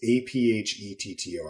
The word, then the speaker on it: Aphetto: It's a p h e t t o I'm assuming it's about it's pronounced Aphetto.